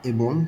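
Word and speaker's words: 의: পাশে আছে মুনহোয়া সংস্কৃতি ওয়া এবং ঝংব তথ্য। মুনহোয়া ওয়া ঝংব সংস্কৃতি এবং তথ্য, এইখান থেকে আমরা শিখব হানগুগে কোরিয়ার। উই এর অর্থ র বা এর পার্টিকেল হিসেবে শব্দের শেষে বসলে এর উচ্চারণ হবে এ।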